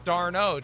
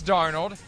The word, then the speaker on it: Darnold: draft even though you continuously pronounced his name darno do you remember those days yes yes you eventually figured out it's darnold and we eventually figured